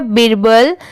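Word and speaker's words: Birbal: है प्रेस्ड ये है बिरबल बी आई आर हो गया बिर और बी ए एल क्या हो गया बल दोनों मिला देंगे तो क्या हो जाएगा बिरबल एफ ओ आर फॉर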